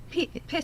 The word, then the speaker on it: pita: learned how to say it correctly this evening, you can use gluten-free pita, not pita. Pitta.